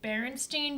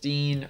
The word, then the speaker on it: Berenstain: Is it the Berenstain Bears or the Berenstain Bears? Okay, let me show you this so you guys can remember. I grew up on these books. Berenstain or Berenstain.